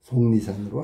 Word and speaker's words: 속리산: 속리산에 있는 절이 법주사고 발음은 속리산으로 하는 거다.